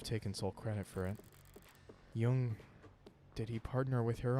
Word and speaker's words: Jung: Um, as in the Swiss psychologist Carl Yung is pronounced Yung. Okay. Okay. Rhymes with book. Yung. Yung.